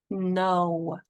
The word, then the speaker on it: know: First word, no. N O. There's a K in front. It's a silent one.